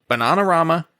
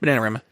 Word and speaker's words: Bananarama: You see credits in the film for The Clash, Bananarama. That's the British pronunciation. Bananarama. I watch a lot of British panel shows and they all say Bananarama.